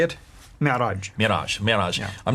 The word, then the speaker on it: Mi'raj: That's called the Mi'raj. How do you say it? Mi'raj.